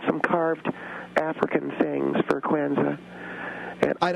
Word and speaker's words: Kwanzaa: I would like to first of all uh tell your guest that is it is pronounced Quanza.